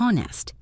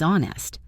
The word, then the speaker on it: honest: The H in honest is silent. It is not honest. It is honest.